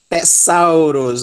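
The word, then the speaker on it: θησαυρός: Então, nós vamos pronunciar esse ditongo au. Té, sal. Té, sal. E a última sílaba, que é a tônica, Rho, ômicron, sigma, ros, Tessauros, Tessauros, Tessauros.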